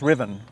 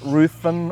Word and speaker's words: Riven: in there number eight it's pronounce Riven it's not ruen or anything like that it's Riven um uh can you